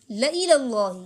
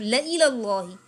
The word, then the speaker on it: لَإِلَى اللَّهِ: او قتل تم، یا تمہیں مار دیا گیا، لَإِلَى اللَّهِ، اس کا تلفظ درست رکھنا ہے، ٹھیک ہے؟ بار بار کہہ رہی ہوں، لَإِلَى اللَّهِ، البتہ اللہ کی طرف، تحشرون، تم اکٹھے کیے